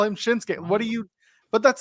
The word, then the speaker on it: Shinsuke: every week how it's pronounced the U is is silent it's a bridge letter it's like you don't call him shinuk Nakamura you call him shinsuke what do you but that's the thing like